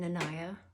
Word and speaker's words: Nanaya: I am Nanaya, rhymes with papaya, from Love and Freedom Life Strategies.